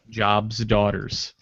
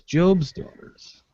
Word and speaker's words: Job's Daughters: But the mispronunciation was awesome when he said Job's daughters. Like the lady immediately like, no, it's Job's daughters.